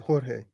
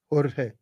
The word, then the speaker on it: Jorge: Jorge. Yeah, Spanish. Jorge. Yeah, the J's are pronounced H.